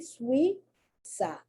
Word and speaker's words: Suiza: Suiza. And don't forget that Z is pronounced Suiza. It's pronounced like either a TH or like an S.